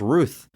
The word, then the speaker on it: Routh: It says Brandon Routh. It says it's pronounced Ruth. But you've always pronounced it Routh. I looked at an interview and they introduced him as Routh, so maybe that is it.